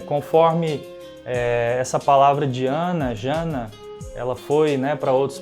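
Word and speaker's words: jhāna: Povo quero Palio e no PA Lidiana se pronunciava Jana então quando os primeiros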